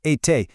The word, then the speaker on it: été: Être becomes été, pronounced été, meaning been.